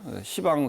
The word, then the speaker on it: 시방: 그러면 이제 사유 사방과 사유와 상하가 앞점면 이제 그걸 시라고 읽습니다. 그래서 아니고 시방이라고 읽습니다. 이건 십자인데 왜 시라고 있냐면 그것은 관리적으로 그렇게 읽으면 이것이 맞는 겁니다. 시방 세계 하면 이제 우리의 모든 공간 세계를 공간 세계를 모든 공간 시방이라 그러죠.